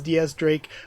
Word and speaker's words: X Drake: It's written as Diaz Drake, pronounced as Diaz Drake, but they have the Roman numeral X there for Diaz.